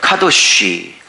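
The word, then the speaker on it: קדוש: 카도쉬. 이 카도쉬는 레위기에서 가장 중요한 단어인데, 이 카도쉬랑 발음이 조금 비슷하니까 잘 외워두세요.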